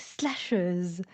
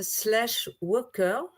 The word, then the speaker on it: slasheuse: Donc slasheuse. Slasheuse. Je ne le prononcerai pas avec l'accent anglais. où j'essayé, ça peut être slashwer.